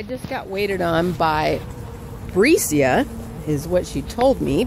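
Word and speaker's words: Brasia: So I just got waited on by Bricia. Is what she told me, but her name is spelled B-R-A-S-I-A, so kind of like a B-R in front of Asia.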